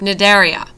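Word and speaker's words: Cnidaria: belong to the group nidaria the sea is silent other narian include hydras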